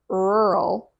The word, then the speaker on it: rural: The third word is rural. Rural. This word is especially tricky because of the R sounds, the double R sounds that happen right after the other.